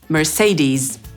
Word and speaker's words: Mercedes: Amerykanin powie /mɚˈseɪdiːz/.